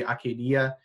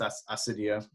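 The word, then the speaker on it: acedia: a little discussion on a Cydia or Acadia in Greek II would be Acadia I think we would pronounce it as a Cydia in English this is on page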